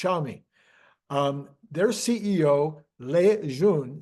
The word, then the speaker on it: Xiaomi: a m i and I think it's pronounced I think I looked this up it's pronounced xiaomi um their CEO Le